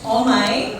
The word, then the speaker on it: Omay: If you haven't heard it yet, or if you've heard it, it's Omay, and yes, it's spelled O-M-A-Y.